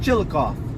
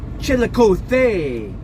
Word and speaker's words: Chillicothe: Drove 8 hours, got up to Chillicothe, Texas, but it's not called Chillicothe. I found out, because when you're talking to somebody from that area, it's actually pronounced Chillicothe, Texas.